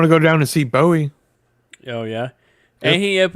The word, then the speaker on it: Bowie: You don't hear a Bowie knife? Bowie. It's Bowie. It's spelled the same. Like space. I mean, sorry. Like David Bowie.